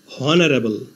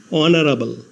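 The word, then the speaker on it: honorable: ধরে উচ্চারণ করলে হয় হনারেবল কিন্তু এইচ এর উচ্চারণ না হয়ে ভাওয়েল ও থেকে উচ্চারণ শুরু হয়েছে অনারাবল এইচ এর উচ্চারণ অন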